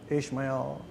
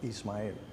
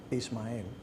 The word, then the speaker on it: Ismael: English speakers to say, and I always got Ishmael. One time I got a kid that asked me, like, so exactly how do you say your name? How do you pronounce it? And I say, Ismael. And he said, Ismael. I said, yeah, you got it right.